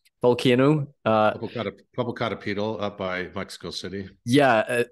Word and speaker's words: Popocatépetl: that they pointed to the, how do you pronounce it, Popocatépetl volcano? Popocatépetl up by Mexico City.